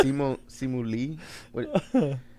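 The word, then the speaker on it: Simu Liu: the main guy the main guy, I don't know how to pronounce his name. It's Simu Lee.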